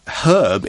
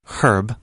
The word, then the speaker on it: herb: herbs now I say herb in the UK most people will say herb in the UK I believe herb is more common you don't pronounce that H so much but I feel that